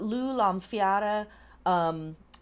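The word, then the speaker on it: Lámhfhada: Lugh Lamfiara is one way of pronouncing his name.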